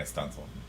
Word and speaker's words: studding sail: It's referred to as a stunsail, but it's spelt studding sail.